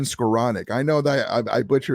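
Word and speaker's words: Skowronek: scaronic down at the so I call him shro Nick so like the way you pronounce it is is um scleronic his name is Ben scaronic I know that I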